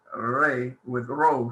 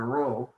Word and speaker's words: rho: It actually, when the word begins with the R sound, with ro, sorry, this letter is a ro. You know it. Notice in the book it is spelled R-H-O because it's an aspirant.